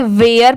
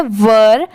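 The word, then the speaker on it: were: बहुत सारे लोग इसे गलत प्रोनाउंस करते हैं। इसे वेयर पढ़ते हैं। बट यह रॉन्ग होता है। इसकी प्रोनाउंसिएशन है वर।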